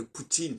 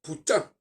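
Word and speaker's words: Путин: de Poutine par exemple ça s'écrit en fait compte en russe pou tin il y a pas de E et donc eux ils disent Poutine parce que eux ils prononcent la fin mais nous nous on n'est pas on fonctionne pas comme ça on devrait dire putin pourtant si on transcrit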